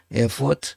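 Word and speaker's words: Erfurt: 발음하는데에 에트라 독일은 쓰지만 발음할 때 에어프 에어프 에어포트 이렇게 발음합니다 노동 연방 대법원이 거기에 있습니다 그러니까 통일되고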